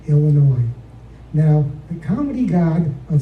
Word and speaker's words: Illinois: do such and such a thing back in Illinois I said it it's actually pronounced Illinois now the comedy God of Snappy comebacks was